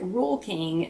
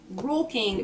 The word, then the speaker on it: Rural King: what i'm saying it's you pronounce it rule king but it's r-u-r-a-l rule king r-u-r-a-l um